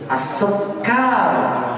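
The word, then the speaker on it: السكر: Yang benar bagaimana? As-sukkar. Nah, as-sukkar. Cara sugar. Bahasa Inggris silakan. As-sukkar. As-sukkaru. Nah, sahih.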